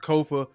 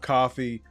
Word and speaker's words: Kofa: Once again, I am your humble host, Kofa, Kofa, not coffee, not kufu, not Kofi, or any variation thereof. Kofa rhymes with sofa.